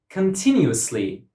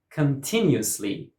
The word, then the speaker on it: continuously: Continuously. Continuously. Continuously. 5 syllables and stress goes on the second syllable. Continuously.